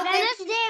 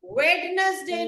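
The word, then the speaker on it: Wednesday: आता है थर्सडे क्या वेनसडे वेनसडे वेडनेसडे नहीं होता है इट्स वेनसडे क्या होता है वेडे वेनसडे नहीं वेन इसम डी की आवाज ड की आवाज नहीं होती ड की आवाज नहीं है न स्पेलिंग में है पर बोलने में नहीं है इटस वेनसडे वेडे तो मंडे ट्यूसडे थर्सडे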